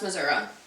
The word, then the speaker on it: Missouri: can breathe now title my experience in the Missouri State Penitentiary was I losing my Missouri Missour